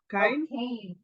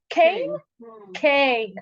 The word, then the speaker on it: Cain: his name in English K is that how you call him no Kan Kane okay K yeah okay Kane ah think really it's